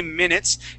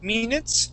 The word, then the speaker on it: minutes: Okay, so 15 to 20 minutes, and instead of saying minutes and using the Spanish I sound, okay, we're going to use what's called the short I sound. Okay, so we would say, instead of minutes, we would say minutes.